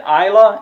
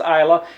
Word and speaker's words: Islay: one it's the ultimate isla and now that's i-s-l-a-y until i learned how to uh pronounce that i thought it was isla or isla or something like that but it's iowa single malt scotch whiskey